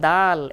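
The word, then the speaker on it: دال: বাংলা দ আকার দা ল দালের মতো উচ্চারণ হবে। টান কম হবে না বেশি হবে? বেশি হবে না কম হবে? তাহলে আমরা বেশি টান দিয়ে বলি দাল দাল দাল দাল দাল।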